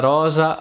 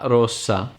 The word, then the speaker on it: rosa: number one is are and double are una Rosa Rosa a red rose burro emmerman lotta butter and